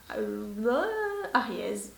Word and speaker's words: Ariège: mon flop concernant la teinte Ariège, on va la prononcer comme ça, hein, la française, de chez Ofra Cosmetics en collaboration avec Manu MUA.